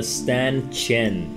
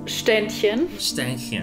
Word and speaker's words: Ständchen: love the piece very nice next shurn the St chin it's you Eddie St chin so okay pronounced shinin what does it mean like a standing Ed